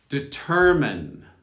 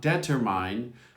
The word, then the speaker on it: determine: Determine. Not determine, determine. It's on the T-E-R.